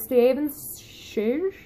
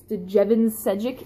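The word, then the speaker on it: Stjepan Šejić: I've been trying to figure out how to pronounce his name. The closest I've gotten so far is Steven Šež. I have no idea if I'm right. It's Stejevan Sejic, if you spell it out there. He's from Croatia.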